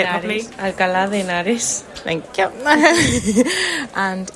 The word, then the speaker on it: Alcalá de Henares: Alcalá de Henares.